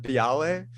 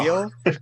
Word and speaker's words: Beale: I said Biale instead Oh of no. Beale, and like even but Napoleon.